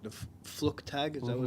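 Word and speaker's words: Flugtag: how am I probably pronouncing it wrong the fluk tag is that what it's called and that was for the Red Bull campaign yeah yeah so we got the event's called flug tag right and we created a series of of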